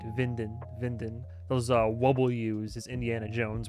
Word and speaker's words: Winden: Also in German, the W is pronounced V, right? Winden.